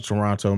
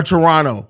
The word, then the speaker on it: Toronto: Listen, bro, they send his ass back to Toronto, man. Or Toronto. I'm sorry. The Canadians always correct me, especially apparently you're not supposed to pronounce the second T.